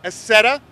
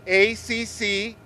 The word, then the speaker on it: Accetta: Robert Accetta, that is spelled A-C-C-E-T-T-A.